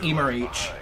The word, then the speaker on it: Emmerich: Oh, it's pronounced Emerich.